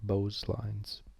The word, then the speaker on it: Beau's lines: Beau's lines are different, so kind of weird pronunciation. Beau's like Beau's stereos, Beau's lines.